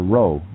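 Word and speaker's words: rho: Greek letter and it's it's actually pronounced Ro just like the Scots do it doesn't that neat how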